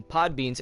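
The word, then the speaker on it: Podbean: for all I know am I saying it right is it really pod beanie where's my extras yes it is called pod bean be ODB EAN and my bro I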